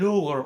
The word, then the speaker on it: Louvre: Louvre of the Central Asia. Did I pronounce it right?